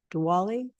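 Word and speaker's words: Diwali: counc Thompson El gner my granddaughter told me it was Dali dwali she corrected my pronunciation so um they are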